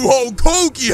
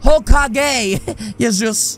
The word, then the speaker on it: Hokage: and his little gang you're the new whole cookie huh actually bud it's pronounced hokage it was just announced